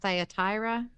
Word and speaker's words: Thyatira: 18 through 29 all right and do you pronounce that thyatira thyatira uh-huh okay and to the angel of